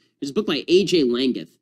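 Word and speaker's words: Langguth: Laggath. It's spelled L-A-N-G-G-U-T-H, A.J.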